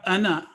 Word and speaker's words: أَنَا: قرآن کریم کے ٹیکسٹ میں ان الفاظ میں موجودہ الف زائدہ پر عموماً کراس کا نشان نہیں ہوتا، تاہم اس کو تلفظ میں نہیں پڑھا جائے گا. وَلَا أَنَا عَابِدٌ مَا عَبَدْتُمْ، یہ